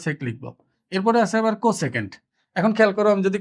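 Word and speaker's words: cosec: আছে কিন্তু এখানে, দেখো কো সেকেন্ড পুরোটা লিখিনি, এই ৪টা নিলেও এটার উচ্চারণ কিন্তু এই কজের মতো রয়ে যাবে। এই জন্য আরো একটা যুক্ত করে এটাকে কসেক লেখা হয়, এটাকে লেখা হবে কসেক।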